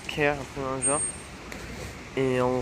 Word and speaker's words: Cahir: aux deux tiers mais ça se prononce genre caire dans un genre et